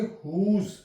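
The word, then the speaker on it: whose: एच ओ एस ई य पर भी डब् साइलेंट य पढ़ेंगे हुज इसकी साउंड हम क्या लेंगे हुज डब्लू साइलेंट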